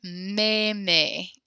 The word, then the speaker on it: meme: The third word, meme, is how you pronounce that. Meme. Yeah, the AI makes kind of a longer E-ish kind of sound.